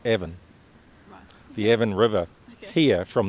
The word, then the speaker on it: Avon: the dean's Brothers bringing the name Avon properly I think it's pronounced Evan the Evan River here